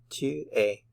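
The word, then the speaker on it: tu es: u r 2 a notice that the s is not pronounced it's silent so 2 a 2 a he is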